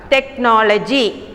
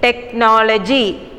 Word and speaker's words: technology: For example, the first one, technology. In that, CH is pronounced as K, isn't it? You can hear the sound of K, the letter K, technology.